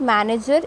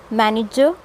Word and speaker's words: manager: Okay, the second A that is coming after N, it will give a sound of IH, not A. So it's manage, manager, manager, management.